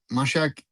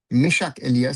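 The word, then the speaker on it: Meschack Elia: Nathaniel Buku goes off and is replaced by Mashaki. Mishak Elia sorry to be pronounced properly.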